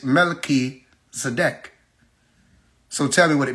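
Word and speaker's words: Melchizedek: They'll say MelchzDC. You see, slip of the tongue. The truth is it's Mel Zadec.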